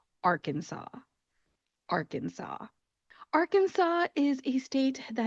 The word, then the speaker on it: Arkansas: Looking at the spelling, you would think that it would be Arkansas. We already know how to pronounce Kansas, so that makes sense. We're just going to call it Arkansas. Unfortunately, it is not that easy. Instead of being Arkansas, this state is called Arkansas.